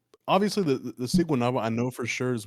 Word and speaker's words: Siguanaba: Yeah, it's Siguanaba, Siguanaba?